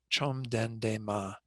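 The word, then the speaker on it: བཅོམ་ལྡན་འདས་མ: aren't even pronounced so this first part of it is literally pronounced as it says in parentheses there chom den de ma it's the same as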